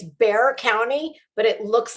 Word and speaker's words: Bexar: Her It's Bear County, but it looks like Bexar. It's like b e x a r, but they pronounce it Bear County, um which encompasses San